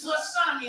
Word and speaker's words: tsunami: Is that an S? It's tsunami.